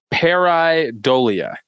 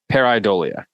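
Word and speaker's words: pareidolia: week is the word for this week is peridolia hair eye dolia so this is how you spell it p-a-r-e i d o l I a peridolia hair idolia yeah we're gonna take a minute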